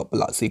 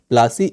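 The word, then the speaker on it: Plassey: प्लासी इज एन Anglicized pronunciation of the Plashi, and place derived its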